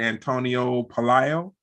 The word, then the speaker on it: Antonio Pelayo: on people and a very special guest Mr Antonio Palio is that the correct pronunciation yes it is thank you for having